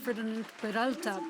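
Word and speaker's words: Ferdinand Peroutka: And recently you received the most prominent prize for Czech journalists, which is the Ferdinand Peralta Prize in the Czech Republic.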